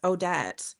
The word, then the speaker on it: Odette: Odette. They kept calling her Adet.